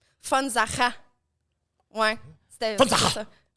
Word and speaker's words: Von Sacher: un V en allemand, c'est un F.